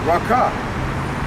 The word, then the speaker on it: raca: raka in the grief is actually pronounced raka which means of him